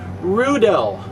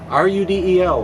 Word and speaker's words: Rudel: West German company called Rudel. Rhymes with strudel. R-U-D-E-L, Rudel.